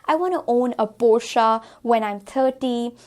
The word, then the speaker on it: Porsche: Here again we have Porsche. Porsche again is the incorrect pronunciation because इसे हम Porsche की तरह, even though ये दिखने में Porsche लग रहा है, but that's not the correct pronunciation.